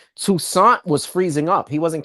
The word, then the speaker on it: Toussaint: Toussaint was freezing up.